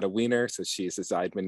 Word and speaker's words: Zeidman: I checked in on Jess's last name pronunciation because I'm a Weiner, not a Weiner. So she's a Zeidman, not a Zeidman.